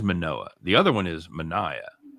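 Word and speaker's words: Manoah: murdered by that time you pronounce it right it is manoa the other one is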